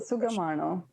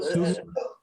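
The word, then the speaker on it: സുഖമാണോ: That's a Sugamano. Sugamano. So Sughamano means how are you? Say that. So spell it again.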